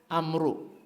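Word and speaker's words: عمرو: Ini Pak, kalau tulisannya dalam bahasa Arab, ini Pak, ain, mim, ro, ada wawunya. Ini bacanya Amar, Amru, al-Amru, Amru bin As, Amru, Amar. Amar.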